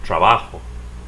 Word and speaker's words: trabajo: the rule of stress this word ends with an O so stress the next the last syllable I work trabajo you work ends with